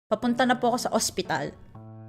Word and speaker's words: ospital: to like the hospital you would just remove the h that's it just pronounce it like that remove the h and pronounce it hospital hospital hospital that's hospital in